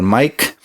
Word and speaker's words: Maic: Yeah, my name is spelled a little different, but it sounds like a regular mic.